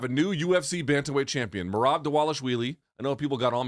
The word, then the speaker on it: Merab Dvalishvili: It's spelled Dvalishvili, but it's pronounced like a W, I guess.